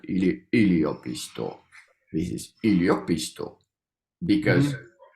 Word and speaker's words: yliopisto: Every word is pronounced like with falling intonation. So we Mm-hmm. have a word, any yliopisto, and like the Middle Finnish pronounce it like with a falling intonation on the Mm-hmm. last syllable. But there are some regions they are actually pronounced with a rising intonation.